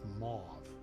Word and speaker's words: mauve: It can rhyme with mauve. Oh, grove? Like mauve. Okay.